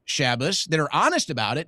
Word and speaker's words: Shabbos: First of all, my name isn't Shabus, it's Shabus.